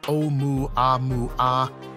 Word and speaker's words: Oumuamua: Oumuamua, pronounced Oumuamua, is the first known interstellar object to pass through our solar system.